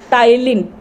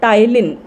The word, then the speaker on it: ptyalin: Salivary amylase, it is also called tylin. P is silent. Spelling starts with letter P.